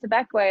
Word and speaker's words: Bequia: So how would you describe Bequia and the difference between, one, if I'm pronouncing it right, and two, the difference between life on the island versus life on the mainland?